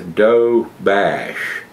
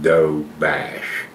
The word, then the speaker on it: Doberge: find out it's a doe bash so that's how it's pronounced it says it's d-o-b-e-r-d but it's pronounced doe bash so b-e-r-g-e is bash okay don't you just